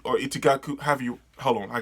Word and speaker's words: Itagaki: to give a huge shout out to Paru Itagaki or Itagaku. Have you? Hold on. I gotta see how to pronounce the name. Okay, Paru Itagaki for what is arguably the most wonderful thing ever.